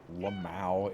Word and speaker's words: LMAO: I forget that that's not like a widespread way to pronounce LMAO, but like it's Lamau.